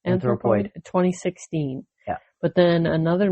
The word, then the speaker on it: Anthropoid: Is that how it's pronounced? Poid? Yeah. Anthropoid.